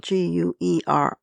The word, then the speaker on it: Guerrilla: Our latest book, Guerrilla Girls, this is spelled Guerrilla, like gorillas. The Art of Behaving Badly is the latest book.